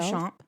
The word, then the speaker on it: Beauchamp: Beauchamp, like Beauchamp.